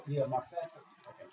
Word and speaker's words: Monsanto: Monsanto. Yeah, Monsanto.